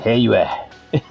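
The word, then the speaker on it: Heiyue: So he pronounces it Heyue.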